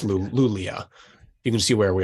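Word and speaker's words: Luleå: were on Northeast we're in the Northeast uh lulio l-u-l-e-a you can look it up well it's pronounced lulio it's got a okay accent yeah it's lulia you can see where we are but east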